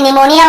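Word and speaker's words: pneumonia: वैसे निमोनिया वगैरह भी एक दो एग्जाम्पल है, लेकिन वहाँ पे एन के पहले पी रहता है, तो वो भी साइलेंट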